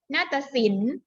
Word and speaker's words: นาฏศิลป์: จะ ไม่ ออก เสียง นาฏศิลป์ ตัว ปลา การันต์ ไม่ ออก เสียง ค่ะ สอง คำ ที่